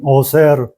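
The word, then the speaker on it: עושר: 부자라는 건 오쉐르예요. 부족함이 없이 넉넉함. 오쉐르. 이게 알렙이 아니고 아인이에요. 그래서 어세르예요. 사실은 어세르.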